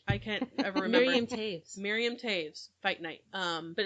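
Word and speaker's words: Toews: night fight night i can't ever marry miriam taves fight night um but it's not spelled that way t-o-e-w-s yeah is how you spell it but it's pronounced tapes but um that's what we're reading right now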